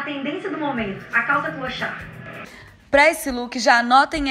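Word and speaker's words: clochard: Como é que pronuncia isso aqui? Calça? Clochá. Clochá, gente.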